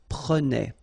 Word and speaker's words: prenait: Prenait. All right? So same thing here, final S not pronounced. Je prenais, tu prenais, il prenait, final T not pronounced, so the same form, okay?